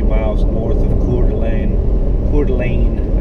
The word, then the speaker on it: Coeur d'Alene: Coeur d'Alene, I think is how the locals pronounce it.